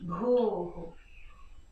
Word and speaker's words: Bhu: So BH is pronounced B, so it has a bit of an expired sound, and it actually, when you go B, it actually drops you into your heart center when you say it with the proper pronunciation of the Sanskrit.